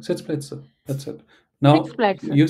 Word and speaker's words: Sitzplätze: Say it like like Sitzplätze.